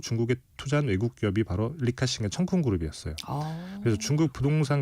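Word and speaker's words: 李嘉誠: 사실 이 사안을 잘 이해하려면 CK 허치슨이라고 하는 그룹 그 중에서도 리카싱 우리나라 발음으로 치면 리자청이라고 하는 인물인데 네.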